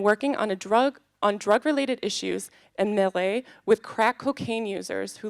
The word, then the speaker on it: Maré: Then we have Henrique Gomes, who is an activist and resident of Maré. Is that correct? Maré? Pronounce that? Maré? Okay. Maré, one of Rio de Janeiro's and Brazil's largest favela communities, with a population of 140,000.